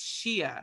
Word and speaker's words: shea: african friends was like y'all just don't know how to say it right over there and i was like what why they're like that's shia shia bhatta not she's better i was like wait